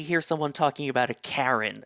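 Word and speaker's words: KaRIn: normally when you hear someone talking about a Karen it's a bad thing but I believe on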